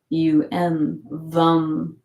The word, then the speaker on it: Vam: V-U-M, Vam for the sacral.